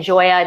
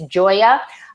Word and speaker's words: Gioia: a heart comm tech check out ben jaya that's how you pronounce his name by the way even though it doesn't look that way it's joya and go check him out